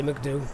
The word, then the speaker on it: MCDU: thought i know what genuine question is he pronounced do mcdu or mcdo i've had some great comments on this ah pilots i've spoke to just say mcdo it's easier of course remember the